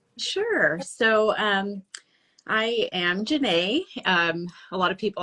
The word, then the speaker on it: Jenèt: so um I am Jana um a lot of people are are hesitant to uh pronounce it they're unsure um but yes exactly so it rhymes with Renee that's what I usually